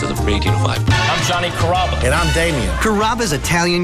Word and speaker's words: Carrabba: People chop it up pretty good, you know, Carrabba, Carababa, Caramba. It's a really easy name to pronounce. It's Carrabba.